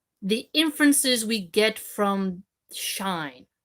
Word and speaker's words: Schein: So he's comparing a real world example with sort of an artistic interpretation example on what he says in German is Schnein, shine.